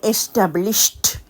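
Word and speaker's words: established: அதனுடைய past tense வந்து எஸ்டாப்ளிஷ்ட் உச்சரிக்கைக்கு அவதானிச்ச நீங்களோ பிரசென்ட் டென்ஸ்ல உச்சரிக்கைக்கு ஏச் கடைசில முடியறபடியா எஸ்டாப்ளிஷ் என்று வருது பிளிஷ் என்று பாஸ்ட் டென்ஸ்ல ஈடில முடியற வழியா எஸ்டாப்ளிஷ்ட் திருப்பி சொல்லி பாருங்க எஸ்டாப்ளிஷ்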